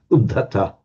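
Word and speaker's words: uddhata: Udhata, which, by the way, when you get a stop consonant followed by an H, the consonant doubles, so it comes udhata. Oops, udhata.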